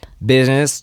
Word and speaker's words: business: 처음에 발음할 때 어렵죠 비스 이거 발음할 때 비즈니스 이렇게 발음하지 마세요. 약간 발음이 텅텅 텅텅 이렇게 좀 튕겨 돼요.